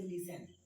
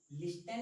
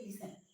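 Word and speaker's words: listen: For example जैसे लिसन, लिस्टन नहीं बोलते, क्या बोलते हैं, लिसन, यहाँ पर टी क्या है, साइलेंट।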